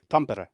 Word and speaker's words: Tampere: How do you pronounce it properly? Tampere? Tampere, yeah.